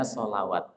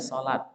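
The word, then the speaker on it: صلاة: Padahal ini bacanya sholat. Kita baca sholawat itu mungkin alasannya karena ada huruf wawu di sini. Ya, ada huruf wawu di sini. Tapi sebetulnya ini bacanya bukan sholawat, tapi sholat.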